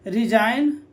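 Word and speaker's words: resign: याद रखें, यदि जी एन के पहले आता है तो क्या होता है? जी साइलेंट होता है।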